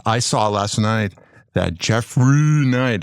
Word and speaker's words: Jeffry: As I saw last night that Jeffry Knight, that's how you say his name. There's no R-E-Y, it's R-Y, Jeffry Knight.